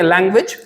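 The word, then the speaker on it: language: मेरे साथ दोबारा बोलेंगे लैंग्वेज, लैंग्वेज, message, message, village. Village. जब भी AGE किसी भी वर्ड के लास्ट में आता है तो उसका प्रोनाउंसिएशन एज ना होके इज हो जाता है।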